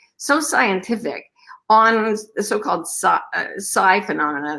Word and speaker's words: psi: designed, so robust, so scientific on the so-called psi phenomena. It's spelled PSI.